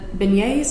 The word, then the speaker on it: beignets: new orleans just to try jambalaya in the beignets is that he pronounced that yep but yes those two things